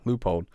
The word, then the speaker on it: Leupold: at Seven Springs, Leupold, I can't ever say that right. How do you say that? Leupold.